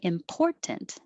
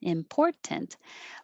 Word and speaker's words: important: pronounced with a t important important but most american english speakers will drop that middle t and just say important and so your tongue